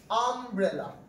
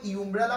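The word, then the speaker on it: umbrella: আমরা যদি এরকম বলি, ধরুন ও একটা এক্সাম্পল বলেছে, I have something something আমব্রেলা। আমরা কি আমব্রেলা পড়ার সময় ইউমব্রেলা পড়ি? ঠিক আছে, আমরা কি উচ্চারণ করি এটাকে?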